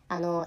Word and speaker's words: M男: 、まあ、これ読み方 M ってアルファベットの M に男と書いて、これ MO と読みます。